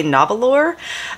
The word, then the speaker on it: Nahvalur: they assure us that even though it phonetically looks like you would say novel or uh and I do